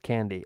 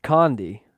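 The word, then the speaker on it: kandi: I guess I can make condi beads and bracelets pronounced candy. Oh, I should have read that before I pronounced it out loud and embarrassed myself publicly. Candy, not condandy for goodness sakes.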